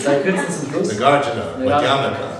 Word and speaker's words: Madhyamaka: Nagarjuna, Madhyamaka, ja, not Madhyamika, ja. America, not America. That's the example I always use to demonstrate it's not America, it's America. Two short syllables at the end.